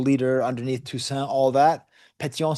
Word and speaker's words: Pétion: Not Henri Christophe, but Pétion, who Piéton is how you say footpath in French.